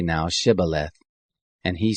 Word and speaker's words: Shibboleth: If he said no, then they said to him, "Say now Shibboleth." And he said Sibboleth, for he couldn't manage to pronounce it right.